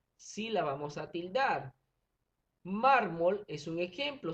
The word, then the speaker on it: mármol: la vamos a tildar mármol es un ejemplo si dividimos mármol en sílaba verificamos que la sílaba mar es la sílaba fuerte la sílaba tónica y si contamos de